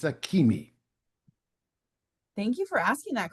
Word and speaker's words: Akemi: So yes, it's Akemi. Thank you for asking that question. Good question. There are some questions about pronunciation in some of the books when they